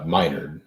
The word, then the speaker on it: Minard: Am I pronouncing his last name right? Yeah. It's Minard. Minard, right.